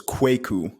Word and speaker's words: Kwaku: bit tricky to pronounce you pronounce the a a bit more so it's kwaku but to be honest